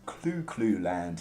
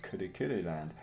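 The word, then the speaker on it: Kuru Kuru Land: the westwood known as clue clue land and really should probably be better pronounced in the japanese form of kurukuru land um this was a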